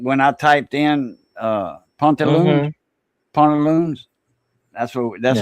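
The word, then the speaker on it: pantalon: It's a pont instead of pant. Pont, like a point, but pont. Haunt, haunted house. Haunt, like that. Pont, pantaloons.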